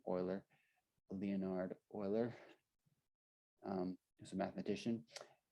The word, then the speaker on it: Euler: That's how you say his name, Euler, Leonhard Euler.